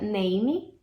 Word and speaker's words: name: tem uma sala ler muita gente pronuncia name name como se esse é no final fosse pronunciado mas ele tá aqui na escrita mas ele não tá no som é isso que faz